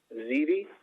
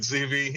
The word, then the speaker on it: Zivi: let's go with zivi and i hope i pronounced your name correctly chris yeah that's perfect it's heavy but it's fine everybody could go with cv it's 15 bullard we